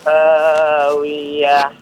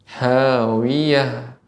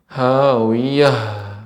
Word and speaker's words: هاوية: Dan satu lagi ha ya, huruf ha ketika sukun juga diberikan ada aliran nafas. Ya, misalnya radiyah ya, hawiyah. Dan ini tidak berlebihan Bapak. Jangan sampai berlebihan. Misalnya dari dada kita hawiyah. Nah, ini juga berlebih-lebihan. Jadi keluar dengan alami namun tetap diberikan sifat dari hawiyah.